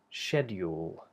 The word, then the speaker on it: schedule: called the dark l so this version would be shedule shedule like that and the other version Begins the way she and then here we have instead of a d a hard D using the tip of the tongue we have a j sound which you have in